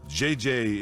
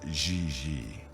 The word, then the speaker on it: Gigi: En français, you pronounce G like J and J like G. She may very well be JJ in America, but in France, she is Gigi.